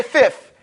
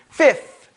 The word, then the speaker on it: fifth: sound when you say fifth I know in New York we say fifth with a f f but it's properly pronounced fifth okay and see with